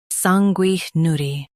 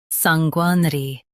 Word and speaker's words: sanguinary: Sanguinary. Stress sang and keep ner light. Sanguinary, sanguinary.